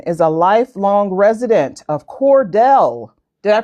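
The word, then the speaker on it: Cordele: Miss Cynthia Johnson is a lifelong resident of Cordell. Did I pronounce that correctly? Cordell.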